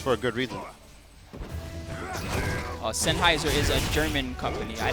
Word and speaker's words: Sennheiser: the fine folks at Sheiser. Sennheiser. Is it Sennheiser? Somebody was making fun of me earlier. Sennheiser. Is it Sheiser? I'm saying Sheiser. It's Sennheiser. That's the correct way to pronounce it.